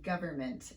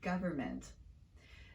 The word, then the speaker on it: government: previous videos and wondered why i didn't pronounce that middle n sound in the word government there's actually a pretty